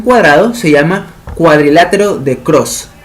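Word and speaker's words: Krause: Cuando el triángulo de Greenfeld se transforma en un cuadrado, se llama cuadrilátero de Cross. Cross se escribe K-R-A-U-S-E.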